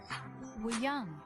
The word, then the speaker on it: Wooyoung: Mingi, Wooyoung, and Jongho. Oh, is he an actor? This is how they pronounce their names.